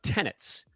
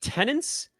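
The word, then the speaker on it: tenet: And you guys might remember I have a number of tenants on the fantasy side. Not to be confused with tenants. For some reason, I've heard people pronounce the word tenant. Tenant, there's no second N, just tenant.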